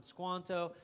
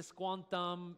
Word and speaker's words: Squanto: Squanto by the way these are all anglicized pronunciations I realize that there's a more appropriate to squantum is is what I understand would be the more uh you know authentic way so forgive me if